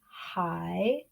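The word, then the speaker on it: 海: down and up and that's what the third tone actually sounds like it goes down and up just like the accent we see here so we pronounce that hi can you hear me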